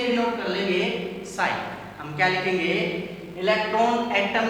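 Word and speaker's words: ψ: लिया है हमने, सिंबल साई लिया है, क्या बोलते हैं इसको, पी साइलेंट होता है, इसको साई बोलते हैं।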